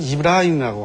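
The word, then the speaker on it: إبراهيم: 우리는 흔히 아브라함의 자손들이라고들 얘기를 하는데, 즉 성경 쪽에서 아브라함이라고 하고 아랍어에서는 이브라임이라고 합니다. 그러니까 발음만 이렇게 약간 차이가 있지 동일 인물입니다.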